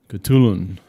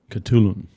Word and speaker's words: Khutulun: to talk about katulun it's like k-h-u-t-u-l-u-n katulun okay right i know it's hard i had to like google the pronunciation you know i was like i was like it was almost like almost like a like a ch sound i guess yeah it's kh though well chatelain was a